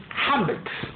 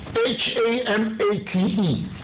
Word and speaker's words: hamate: And the hamate. However you know it. H-A-M-A-T-E. Hamat. Or hamate.